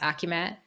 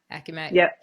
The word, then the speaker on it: AkiMat: brings me into my question about is it's pronounced acumat acumat AC yeah tell me a little yeah tell